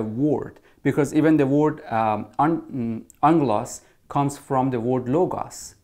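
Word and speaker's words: ἄγγελος: The word angel, it's actually a transliteration of a Greek word, which is pronunciation would be angelos.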